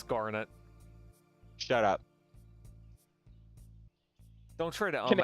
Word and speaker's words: Garnet: her hair hold on bar pronunciation it's Garnet shut up don't try